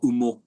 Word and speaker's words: OMO: And the project that I've got is called Umo, OMO, and it's I'm pronouncing it in its Japanese kind of style apparently.